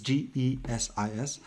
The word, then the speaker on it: GESIS: We're using the portal called GESIS, or however they want us to pronounce it. It's GESIS.